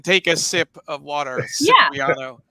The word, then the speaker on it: Cipriano: Cipriano. Sip of water. That's how exactly.